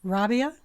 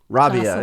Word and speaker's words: Rabiah: name by the way Rabia Rabia it's just an uh Rabia it's more like uh what do they call that a diphthong when and when a